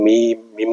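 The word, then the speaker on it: ميم: যেমন মিম, মিম লিখতে 2টা হরফ লাগে, 2টা অক্ষর লাগে। মিম 2টা লাগে, এই জন্য মিমটা লম্বা করে পড়তে হবে। বাংলায় লিখতে যেই হরফটা একাধিক অক্ষর লাগে সেটা লম্বা হবে। মিম মিম। এটা উচ্চারণ করা খুবই সহজ, 2 ঠোঁট থেকে উচ্চারণ।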